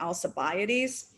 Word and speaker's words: Alcibiades: Socrates had been the lover and then very close friend of Alcibiades. Alcibiades, if you use a more Latinized pronunciation, I think you say it Alcibiades.